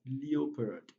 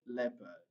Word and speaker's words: leopard: another one is leopard most second language speakers pronounce the word as leopard which is wrong the correct pronunciation of three words are jeopardy jeffrey and leopard so in this word letter e o e